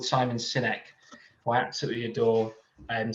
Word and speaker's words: Sinek: So there's a chap called Simon Sinek, who I absolutely adore, and sometimes pronounced Sinek.